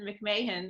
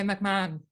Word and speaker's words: McMahon: with the lovely catherine mcmahon am i saying your last name right hey mcmahon mcmahon okay you see i knew it and don't worry about it everybody pronounces it differently well i'm so happy